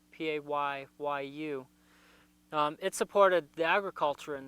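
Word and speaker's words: Paayu: It's It's also known as the Paiute. I believe it's how it's pronounced in Hopi, Payyu.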